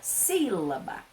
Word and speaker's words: sílaba: Olha só, sílaba. A primeira sílaba, ela tem o acento agudo, é a sílaba tônica, uma sílaba mais forte.